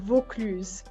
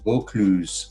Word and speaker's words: Vaucluse: And if you can pronounce Eloise. Yeah, Eloise from Vaucluse. Yeah. Vaucluse, Eloise.